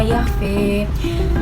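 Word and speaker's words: يَخْفَىٰ: Pada akhir ayat ini terdapat perubahan, yaitu imalah pada bacaan yakhfa sehingga cara baca menjadi innahu ya'lamul jahra wa ma yakhfa.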